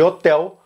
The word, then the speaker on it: hotel: O primeiro é que todos pronunciam a letra L no final de hotel com um som de U.